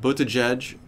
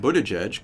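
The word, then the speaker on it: Buttigieg: to get it wrong but butajudge seems to be the correct way to pronounce it how Pete budajudge could hurt Trump in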